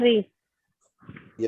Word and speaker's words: कवयित्री: कवि कवि क्या रहता कवित्री है सर? होता है वो कवित्री होता है। कवयित्री। यस सर, कवित्री होगा।